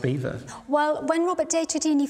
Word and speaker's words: Belvoir: So, to me, it seems it's spelt Belvoir but pronounced Beaver.